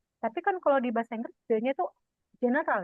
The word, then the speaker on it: die: He feminin adalah die dan neutral adalah das. Pluralnya adalah semua die. Plural pluralnya die di ya bacanya di bukan die di ya di.